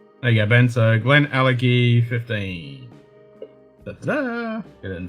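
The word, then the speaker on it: Glenallachie: What, Glen Alecky? You say Glen Alachi? It's Glen Alecky.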